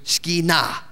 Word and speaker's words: Shekinah: In Hebrew, the accent's always on the last syllable. Okay, so we say Shekinah because that's the way we speak English. In Hebrew, it's Shekinah. That's the way they would say it.